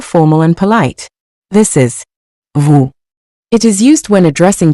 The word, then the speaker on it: vous: Vous. Vous. The final S in vous is also silent, just like nous, unless it's followed by a vowel.